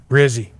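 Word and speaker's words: Rizzi: jop because alar said coach I want rhymes with fizzy dog and that would be rzy see got bars yeah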